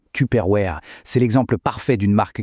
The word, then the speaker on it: Tupperware: On ne dit pas Tuperware à l'américaine. Non, on dit Tuperware.